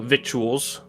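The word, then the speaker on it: victuals: Anyways, um so yeah, he he goes and sits down just begins helping himself to little little vituals which has a C in it.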